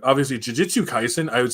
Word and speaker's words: Jujutsu Kaisen: So I always used to mispronounce it wrong all the time, and one day my buddy heard me say it, And I was like, Juju Kaisen. And it's like, that's not how it's pronounced. And I was like, what? It sounds like you're saying Juju.